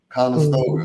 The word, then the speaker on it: Conestoga: Conestoga.